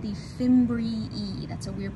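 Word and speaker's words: fimbriae: drape over the ovary these are called the fimbri e that's a weird pronunciation but that is how it how you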